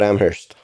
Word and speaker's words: Amherst: Tell me about Amherst. Yeah, Amherst was great. It's I'm sorry. Oh, no. It's okay. The H is silent.